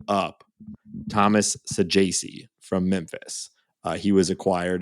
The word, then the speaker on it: Saggese: So how are you feeling about the Saggese call up?